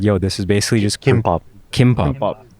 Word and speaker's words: gimbap: He's just like, yo, this is basically just Kimbap. Kimbap. Yeah, but it's spelled G because Koreans pronounce G as a K.